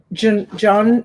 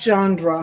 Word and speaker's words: genre: This is like a, is it John, not genre. How do you say it?